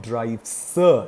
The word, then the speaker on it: drives: drive changes to not drive, sir sound. It changes to drives, the z sound.